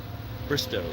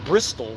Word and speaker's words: Bristow: to see you actually in Bristol uh Bristow Bristow I'll say it correctly we were in Bristol this year for Power